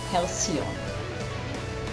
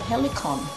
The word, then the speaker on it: halcyon: Halcyon. Now for years I pronounced that helicon.